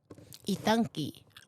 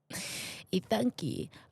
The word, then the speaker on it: Ithanki: Ithanki. Ethan and Monkey. Ithanki.